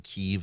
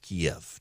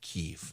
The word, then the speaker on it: Kyiv: why am I saying Kyiv instead of Kiev? I'm trying to do the proper thing. So the Russian pronunciation of the capital of Ukraine is Kiev, chicken Kiev. The Ukrainian pronunciation is Kyiv.